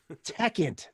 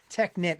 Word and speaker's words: Techint: Techint. That's it. It's not Technit. I was just trying to pronounce it right.